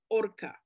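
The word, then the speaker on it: horca: uh folka of course it has lost the f sound and in spanish today it's written with an h that is not pronounced so it's orca la orca which means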